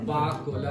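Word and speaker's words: Pakola: फिर वो आज मुस्तफा ये पकोला, ये कैमरा पकोला मैं बोल रही थी इसको प्रोनाउंस किस तरह करते हैं? पाक कोला।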